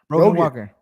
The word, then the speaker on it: Brogan Walker: Miss Brogan, how you pronounce the name of you? Brogan Walker.